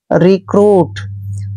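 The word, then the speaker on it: recruit: Next word है next word है दोस्तों आर ई सी आर यू आई टी। आर का उच्चारण दोस्तों हम र करेंगे यहां पे। और इ का उच्चारण हमने यहां पर इ की मात्रा करना है। सी को हमने क लिखना है। ऐसे आर को हमने र पढ़ना है। यू आई का उच्चारण ऊ की मात्रा और टी को ट पढ़ते हैं।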